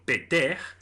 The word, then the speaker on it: Ptah: dios Ptah en egipcio peter, en que el tercer sonido es una aspirada que se pronuncia en la faringe y que no existe tampoco en las lenguas europeas, se escribe con 3